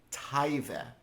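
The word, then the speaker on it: תאווה: It's pronounced taive.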